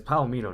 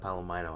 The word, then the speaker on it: Palomino: visited palomino petroleum and it's palomino not palomano i really butchered that